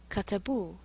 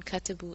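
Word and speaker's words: كتبوا: So huwa kataba, katabat, katabu, for hiya and hum. Notice that the aleph on katabu is not pronounced.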